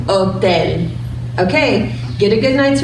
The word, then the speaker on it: hotel: say hotel in Spanish oh then simple as that she owed then so it's at the bottom of your screen the H is silent oh then okay get a good